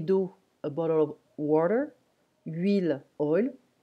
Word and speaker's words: huile: Huile, oil. Huile, we don't pronounce the H in French.